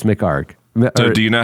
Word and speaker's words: McHargue: me do not spell do not pronounce those last two letters it's McHargue do you know how